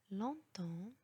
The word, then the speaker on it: longtemps: Il y a encore une autre règle لكن يوجد استثناء ل P الذي يوجد في وسط الكلمة والذي لا ينطق وهو في هذه الكلمات temps, temps, longtemps, corps, compter.